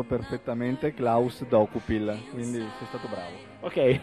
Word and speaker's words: Dokupil: adesso che stavo attento, ma tu hai sempre pronunciato perfettamente Klaus Dokupil, quindi sei stato bravo.